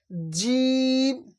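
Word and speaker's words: جيم: আছে এই দুই দাঁতের মাথায় হালিফ বা তাা জিম জিম জিম জিমটা একটু চেপে হবে একটু চাপ দিয়ে উচ্চারণ করবেন জিম জিম তারপর হচ্ছে হা গলার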